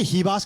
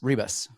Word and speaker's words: Ribas: he like I guess do we say heos because that's how they say it in Portuguese but we would say Reeb Rebus Reeb she is wild